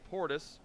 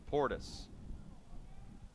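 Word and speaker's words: Portice: miles an hour from portis it's two balls and a strike portis spells his name p-o-r-t-i-c-e even though it's pronounced like clinton portis the former nfl running back the 2-1 misses high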